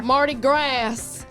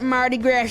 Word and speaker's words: Mardi Gras: Most people have pronounced it grass before. Mardi Gras. Got that Mardi Gras going on down there in New Orleans.